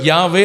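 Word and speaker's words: Yahweh: யாவே அப்படின்னா எபிரேய மொழியில் இப்படி தான் சொல்லணும், கரெக்டாக சொன்னான்.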